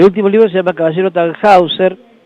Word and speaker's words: Tannhäuser: libro se llama caballero tannhäuser en realidad se pronuncia tannhäuser porque es alemán y es un homenaje